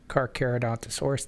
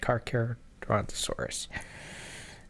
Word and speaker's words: Carcharodontosaurus: Carcharodontosaurus. That's how you say it. Carcharodontosaurus.